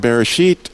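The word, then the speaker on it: בראשית: If you go look in the beginning, God, the way that it's called Bereshit, I know that's how they say it in Hebrew, but it starts with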